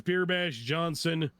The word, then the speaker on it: B33rbashJawnson: Yourself real quick yeah my name is beerbash Johnson it is uh is spelled with threes instead of e's in the beer bash and John is spelled j-a-w-n other than that it's all one word that's a little excessively complicated